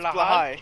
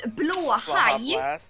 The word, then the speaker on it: blåhaj: It's Blahai, isn't it? Because it's actually not spelled like that. We have a small circle above the A in the first word. It's Blaha! It is blåhaj. Blåhaj. Blåhaj. It means blue shark.